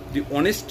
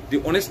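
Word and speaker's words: honest: উচ্চারণটা যদি ভাওয়েলের মত হয় সেক্ষেত্রেও কিন্তু আমাকে উচ্চারণ করতে হবে দয়া হস দিন যেমন দেখুন স্ক্রিনে উদাহরণ আসছে অনেস্ট ম্যান রিচয়েস্টারডে অনেস্ট man rich yesterday এখানে দেখুন অনেস্ট এইচ দিয়ে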